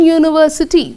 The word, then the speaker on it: university: Reason is, though the letter is U, the pronunciation is a. Okay? So, whenever we write the letter U, we generally pronounce it as a. See, we say an umbrella, a. So, the letter U is used to pronounce the sound a. Whereas in this word, you see, it is used to pronounce the sound U.